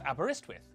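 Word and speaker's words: Aberystwyth: like Tre Lo Brin and abber such as abber iswith meaning the mouth Abba of the river iswith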